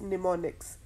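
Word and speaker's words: mnemonics: Assembly language को हम कहते हैं कि दिस यूजेस निमोनिक्स। इसमें जो फर्स्ट एम है वो साइलेंट है।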